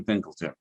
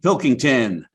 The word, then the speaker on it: Pilkington: jr aj murray and andrew pinkelton sorry i said your name wrong pilkington now you'll get to